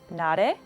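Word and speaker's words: Narae: comfortable sharing oh yeah my korean name is nade it's spelled n-a-r a-e so a lot of people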